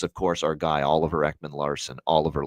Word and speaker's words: Ekman-Larsson: Jonathan Marchessault, him calling him John Masserole is one, and the other is, of course, our guy, Oliver Ekman-Larsson, Oliver Lossum Tossum.